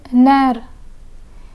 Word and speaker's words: nerf: Chef and nerf. The F in chef is pronounced, but the F in nerf is silent.